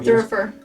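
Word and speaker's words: thurible: around kind of situation the prayer it's not prayer thorougher thorougher Thank you. I always say it wrong, too.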